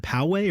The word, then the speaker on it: Poway: and then poway or poe but you say poegians but it's actually called poway andy is learning so